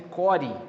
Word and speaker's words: core: a pronúncia da palavra nós fala cor escreve core né mas é cor mesmo que é o núcleo